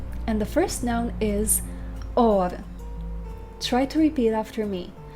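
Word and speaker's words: אור: And the Lord said, "Let there be or."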